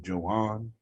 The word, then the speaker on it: Joan: It's spelled Joan like Joan, but he's Spanish, so I guess it's Joan.